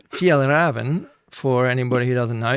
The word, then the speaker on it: Fjällräven: You're on the Fjällräven Polar in 2017. Now, how was my pronunciation on that? It was better than Åkerberg. Yeah, thanks very much. So, Fjällräven. Fjällräven, for anybody who doesn't know, is an Arctic